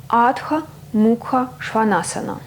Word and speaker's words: Adho Mukha Shvanasana: En sanskrit, le nom de la posture se prononce Adha Mukha Svanasana ou Adha vers le bas, Mukha museau, Svana chien, Asana posture.